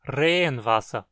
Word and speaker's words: Regenwasser: Quando dizemos água da chuva em Hunsrückisch, dizemos Regenwasser, soando como uma palavra só. Regenwasser. Se escrevêssemos separados, a pronúncia seria Regenwasser, como duas palavras.